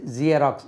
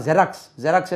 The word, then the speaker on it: ஜெராக்ஸ்: அதே மாதிரி ஜியராக்ஸ், உச்சரிப்பு எப்படி? ஜியராக்ஸ். இதெல்லாம் ஜெராக்ஸ் எடுத்தாச்சா, ஜெராக்ஸ் எடுத்தாச்சா. ஆளுக்கு ஒரு மாதிரியாக சொல்லி அதை அப்படியே மாற்றி ஜியராக்ஸ்னு சொன்னால் உத்து பார்ப்பாங்க. நம்ம போய் ஜியராக்ஸ் எடுக்கணும்னா, என்னப்பா இவர் புதுசாக சொல்கிறார், எந்த ஊர் உங்களுக்குன்னு கேட்பான்.